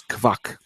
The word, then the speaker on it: Kwak: It's Kwak.